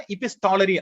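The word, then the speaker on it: epistolary: இபிசில், ஆனா இபிஸ்டாலரி அங்க வந்து டி ப்ரொனன்ஸ் பண்ணுவோம்.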